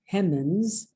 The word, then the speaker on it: Hemings: found this document, a death certificate of Peter Hemings Robinson. It's spelled Hemings, Hemans, on the document.